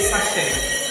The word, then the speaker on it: sachet: So you say sachet. Take note.